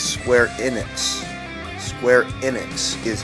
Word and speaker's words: Square Enix: It's Square Enix. Square Enix is how you pronounce it.